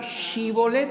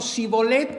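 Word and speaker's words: שיבולת: Aquel que no podía pronunciar shibolet, sino sibolet, ¿qué le hacía?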